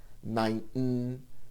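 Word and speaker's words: נײַנטן: Now this gets a bit tricky to pronounce when the word already ends in an N or a Nun, followed by a T or a Tes. Neunten, Zenten. It takes practice not to insert a vowel, and the T is not fully aspirated.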